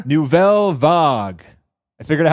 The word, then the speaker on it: Nouvelle Vague: That's my French accent right there.